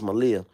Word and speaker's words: Malia: Wouldn't it be dope if I don't know how to pronounce her name. I don't know if it's Malia, that's the oldest one. Yeah, it's Malia.